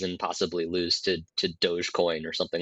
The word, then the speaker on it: Dogecoin: possibly lose to to Dogecoin or something like that that's how you pronounce it I thought it was doggy coin but boy I feel